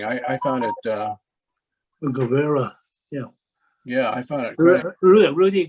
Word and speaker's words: Guevara: uh i can't pronounce his name too well go go vera junior rudy governor junior this is really interesting i i found it uh guevara yeah yeah i thought rudy gubera yeah uh christy i had a question for